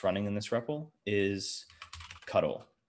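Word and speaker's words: ctl: But for now, what we're going to need to interact with the embedded host that's running in this REPL is cuddle, which is how it's pronounced, and it's short for control interface.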